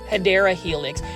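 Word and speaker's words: Hedera helix: the correct way to say it plies is hideera helix.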